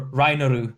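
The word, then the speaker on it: Reiner: Yeah, like the guy who's called Rainer, they don't say Rainer or Raineru, they say Rainer, which is exactly how we pronounce it in German.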